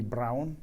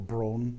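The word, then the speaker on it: Braun: by this German company Brown or brone some people pronounce it where you could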